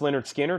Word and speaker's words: Lynyrd Skynyrd: can a restock of Lynyrd Skynyrd pronounced Leonard Skinner 38.99 for the money there's a better version we've got them for 70.